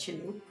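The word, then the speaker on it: kylling: In Norwegian, chicken is killing. Pronounced chilling.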